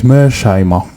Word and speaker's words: Mearsheimer: So Professor his name is so difficult to pronounce, sorry, but it's Mearsheimer, okay?